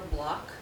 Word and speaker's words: Block: She said this is for public record, and it's from a resident, Barbara Block, B-L-O-C-K. I pronounced it right.